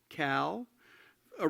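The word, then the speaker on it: CALA: to attend the columnist columbia alumni arts league i'm told that's pronounced cal a reception in the lobby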